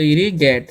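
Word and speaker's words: irrigate: भी पढ़ते रहना तो इसे हम पढ़ते हैं आई डबल आर आई से क्या हो जाएगा इरी ठीक है और जी ए टी है तो क्या हो जाएगा गेट तो इरी गेट क्या पढ़ेंगे हम इरिगेट उसी प्रकार से लिखा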